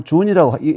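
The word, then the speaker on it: 屯: 하지만이 자 올라오는 모양이니까 이게이 발음을 준이라고 여기서는 준이라고 하는데 준이 변해서 어 준이이 춘으로 이렇게 발음이이 변한 것입니다. 그러니까 주역에 보면 건꾀 곤 다음에 세 번째 기가 준입니다.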